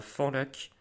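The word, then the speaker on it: Fanlac: en Dordogne Alice n'hésitez pas à aller à fond lac ça s'appelle ça s'écrit F a nlac franchement c'est très sympa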